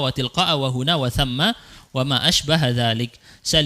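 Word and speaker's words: ثَمَّ: Huna artinya di sini, thamma artinya di sana. Ini bacanya bukan thumma tapi thamma. Wa min thamma, dan di sana biasanya begitu ya.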